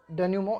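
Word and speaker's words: dénouement: डेन्यूमो का मतलब होता है, इसको इस स्पेलिंग को याद कर लेना, है ना, थोड़ा सा याद करने की दृष्टि से पढ़ लेना, इसे डिनोयूमेंट पढ़ लेना, इसे याद करने की दृष्टि से। लेकिन जब हम इसका प्रोनाउंसिएशन करेंगे ना तो इसे बोलेंगे डेन्यूमो।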